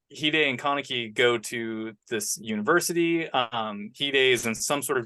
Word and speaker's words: Hide: Kaneki and Hide. His name is spelled Hyde, but it's pronounced Hide.